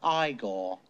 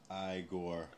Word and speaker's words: Igor: No, it's pronounced Igor. Igor.